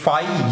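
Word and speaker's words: φ: सबसे पहले इसे रिप्रेजेंट करते हैं इससे, ये फाई या फी है, कुछ कंट्री में इसे हम फाई के नाम से प्रोनाउंस करते हैं और कहीं कहीं फी कहा जाता है।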